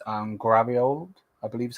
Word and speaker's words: Gvardiol: So the first thing I want to talk about is I'm going to butcher his name, but I think it's Gvardiol, I believe is how you say his name.